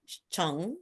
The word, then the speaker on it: Chung: I have Chong. Did I pronounce it right?